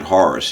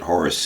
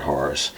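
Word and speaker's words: Horacee: But you pronounce it Horace, you don't pronounce it Horace. You pronounce it Horace.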